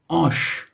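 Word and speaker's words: آش: Ash means soup.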